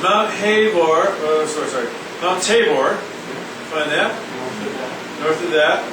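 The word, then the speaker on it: Tabor: and then there's Mount hore sorry sorry Mount tavore find that north of that see hold on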